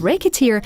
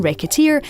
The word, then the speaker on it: Recettear: Even the name, Recettear, is a play on words. Say it wrong and it comes out like racketeer, which, given the circumstances of the lead character, doesn't feel that far wrong.